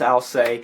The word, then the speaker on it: Alcest: record entitled spiritual instinct so I'll say or else whichever way you want to pronounce it I believe it's al se is one of the